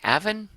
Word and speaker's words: Aven: look now at aan Aven Raven no no no they said in their fact it rhymes with Raven so this is aan